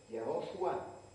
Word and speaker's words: Yahoshua: Si se pronuncia esto un poco más corto, entonces Yahoshua se transforma en Yeshua. En griego lo transformaron en Jesús.